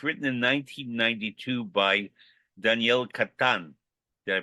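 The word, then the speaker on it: Catán: and it was written in 1992 by Daniel Catan. Did I pronounce Yes.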